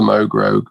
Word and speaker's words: Moog Rogue: uh yeah absolutely um it's called the mogrog because it rhymes um anything i'm doing